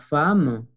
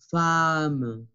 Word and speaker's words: femme: baskets, une veste pour femme, la pronunciación es femme. ¿Por qué pronunciamos A? No lo sé. Así es. Esa palabra se escapa de las reglas. Femme. Femme. Con A.